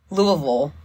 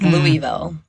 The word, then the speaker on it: Louisville: you think about uh the town in Kentucky Louisville versus louiville mhm you are doing something when you are pronouncing that one way or the other way or like when I